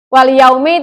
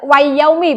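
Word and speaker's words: وَالْيَوْمِ: Wal yaumi tidak wayaumi bacanya, tetapi apa? Oke, ya betul. Wal yaumi, alif lamnya tetap dibaca jelas berupa al.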